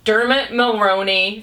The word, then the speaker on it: Dermot: characters okay we need our Julia Roberts or Dermot that's how you say his name and Cameron